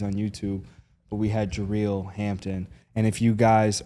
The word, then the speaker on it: Jareel: It's not It's Jerel. Yeah. So, it's Jerel. Um, I thought it was Ju. It's how it's spelled.